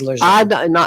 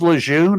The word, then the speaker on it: Lejeune: I call it Lejeune. There's no R in there. Always have, always will. Never has been an R, but the proper name is Lejeune.